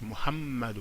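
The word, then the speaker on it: Muhammadu: En bas, ce n'est pas Muhammadou, c'est Muhammadou. Donc la couronne est sur le mime, le me, donc c'est pourquoi j'insiste Muhammadou.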